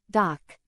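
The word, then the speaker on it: 닥: the same as before the consonant dig is D the vowel a is a and the final consonant Rak is K combining these gives the pronunciation doc let's listen to the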